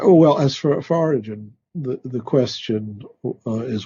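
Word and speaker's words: Origen: Well, you can say Oregon if you want. It would be origin adamantius, right?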